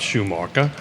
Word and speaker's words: Schumacher: Tell us a little bit about Schumacher, right? Did I pronounce that correctly?